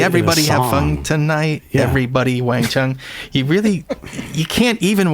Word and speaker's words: Wang Chung: They later respelled it as Wang Chung with a W so people could actually pronounce it.